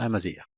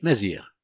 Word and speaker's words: Amazigh: On dit Amazir, on dit Mazir. Donc ça dépend des régions. Il y a ceux qui vont prononcer Amazir, et il y a ceux qui vont prononcer Mazir sans ce ya. On appelle ça ya dans la langue Amazir, dans le zifinard. C'est-à-dire vous prononcez uniquement Mazir.